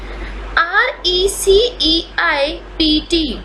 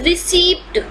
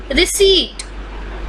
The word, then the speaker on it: receipt: some commonly used words r e c e i p t many people pronounce it as received but this is not received this is receipt this is receipt pronounce